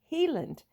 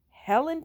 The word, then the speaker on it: Heiland: was the same origin it is commonly but incorrectly pronounced Helen Township in 1850 it was